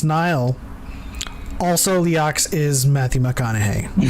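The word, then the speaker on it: Nihil: round table they're like okay it's markian it's niall also leox is matthew mcconaughey so make sure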